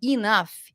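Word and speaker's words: enough: menos um F né então quando eu aprendo a falar e Naf quando eu aprendo que isso aqui escrito é inaf isso eu tô me referindo a pronúncia entendeu então isso é pronúncia a gente melhora a nossa pronúncia entendendo que a pronúncia dessa palavra que está escrito aí é inaf fechou deixa eu ver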